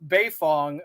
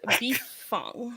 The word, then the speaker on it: Beifong: It's Tough Beifong, okay? That's how you pronounce it correctly. You can say it however you want, I guess. No, If you get the Carrie's correct pronunciation is Bifong, okay? We're all gonna say it that way.